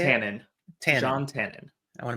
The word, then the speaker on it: Tannen: Tannen. Jean Tannen. I want to make sure I spell it right, which it will be spelled right here now.